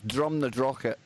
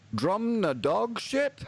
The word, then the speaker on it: Drumnadrochit: You know, I've heard Americans like approaching me in the summer and saying, "Hey, man, how do you get to drum the dog shit?"